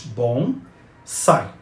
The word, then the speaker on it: bonsai: japonesa como Samurai a palavra bonsai pronuncia-se como a sílaba tônica em sai ou seja bom sai ela escreve sem acento